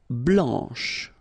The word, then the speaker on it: blanche: Okay, remember when you combine this CH, you get the sound sh, blanche.